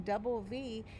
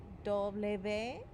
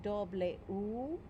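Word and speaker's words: doble ve: We're just saying double V. And if you think about it, you know, 2 letter V's make a W. Double V. Also, I'm pretty sure on the song video, it's going to give you a choice to say double U.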